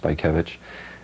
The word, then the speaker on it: Bajkiewicz: name is and it's pronounced by kevich and my family and